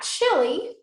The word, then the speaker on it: Chile: So we're going to look at Chile and then Paraguay and Uruguay. All right. So Chile means where the land ends. It comes from the word Chile, C-H-I-L-L-E-I.